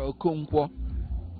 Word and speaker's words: Okonkwo: Okonkwo.